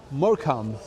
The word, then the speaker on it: Morecambe: ¿Morecambe se pronuncia? Morecambe.